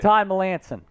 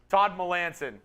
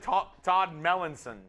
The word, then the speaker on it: Melanson: Will pronounces my name correctly. Give Chugs a lesson, Will. What is it? Todd Melanson. Oh, okay. Todd Melanson. I think I said Todd Mellinson. Todd Melanson. Todd Melanson. Okay.